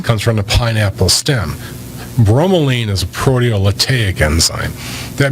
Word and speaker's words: bromelain: had another one that you said that was bromo lean at did I say it correctly yes if you're not aware of pineapple that's where bromine comes from comes from the pineapple stem bromelain is a proteolytic enzyme that means it breaks